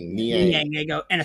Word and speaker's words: Niang: I'm mispronouncing his name. Niang.